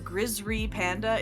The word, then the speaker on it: Grizzry Panda: Like there's a like famous garage kit sculptor, Grizzry Panda, it's pronounced that way, it's spelled that way.